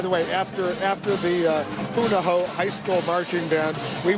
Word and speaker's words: Punahou: all right this is the Buddha who Buddha ho I keep mispronouncing it it's Punahou high school marching band from